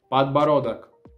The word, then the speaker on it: подбородок: Queixo, na língua russa, vai ser como подбородок. Подбородок. Eu sei que essa palavra é muito difícil você repetir comigo, mas vamos tentar de novo. Подбородок. Подба vai ter D. Под, ба, родок, подбородок. Agora, como se pronuncia na língua russa a bochecha?